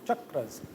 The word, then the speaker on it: chakra: You'll hear some people say chakras, but it's mispronunciation, so chakras.